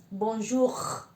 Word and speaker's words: bonjour: sentir acá de acuerdo nosotros hacemos acá adelante y los franceses la hacen acá atrás entonces es muy importante eso hacerla siempre que la habíamos escrito que se pronuncia atrás entonces yo como aprendí a hacerlo eso como cuando hacemos gárgaras es acá entonces sería bonjour de acuerdo bueno eso por